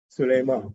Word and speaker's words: Suleiman: you spell your name it's spelled the way it's pronounced and the way it's written there's only one way to pronounce it suleiman right because unless you